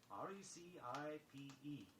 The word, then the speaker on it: recipe: R-E-C-I-P-E. Perhaps you've heard people pronounce it other ways, but recipe is correct.